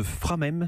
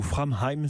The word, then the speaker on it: Framheim: Vous êtes le cofondateur de Framem, c'est bien comme ça qu'on prononce ? Exactement. Ou Framheim si on le prononce à l'allemande.